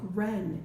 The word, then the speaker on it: wren: On this page, you might be able to see that sometimes when words start with WR, the W is silent and you just pronounce the R, like wren and wrapped and right.